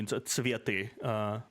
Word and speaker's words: цветы: I'm not sure I agree with this creative use of throwing off the цветы. Цветы. Usually that's how you pronounce it.